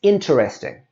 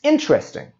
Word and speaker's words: interesting: And we can see it's got that middle E there that we don't need. So we don't say it's interesting or I will earn interest. We say it's interesting.